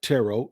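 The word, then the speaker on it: Turo: guys know that Today's Show is sponsored by tarot it's t-u-r-o but it's pronounced tarot tarot is the world's largest car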